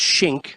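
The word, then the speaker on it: Schenk: do so you bring up adam and it's shink and it's that's how it's pronounced and and dalby knows that as well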